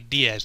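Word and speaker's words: Diez: It's just like he's listed as X Drake, but then I guess the Kana spelling pronunciation was supposed to be Diaz, like the Spanish number for 10.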